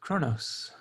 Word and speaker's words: Kronos: How do they pronounce Kronos? I believe. Well, because it's a Q, right? It's a QU, and so it's like Kronos. It's like it's like a guttural sound.